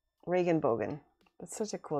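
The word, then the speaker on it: Regenbogen: but then i remember i think it's regan reagan bogan reagan bogan it's like rain elbow right mike reagan bogan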